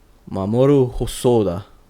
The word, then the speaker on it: Mamoru Hosoda: How do you pronounce that? Mamoru Hosoda.